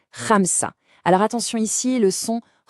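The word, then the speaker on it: خمسة: Ça se prononce Ramsa. Alors attention, ici le son R, il est un peu gutural. Il vient du fond de la gorge. C'est un son très typique de l'arabe. On essaye. Ramsa.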